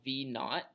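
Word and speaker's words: v₀: So V naught, this is pronounced V naught, is your initial velocity of the thing.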